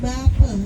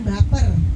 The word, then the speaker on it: bapa: Bapak itu bape, B-A-P-A. Dibacanya bape, bukan baper, ya bape.